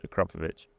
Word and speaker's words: Akrapovič: It's not Akrapovič or Akrapovič. It's Akrapovič. What about BMW?